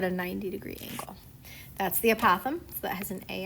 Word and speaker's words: apothem: The first word is the apothem is how you pronounce that.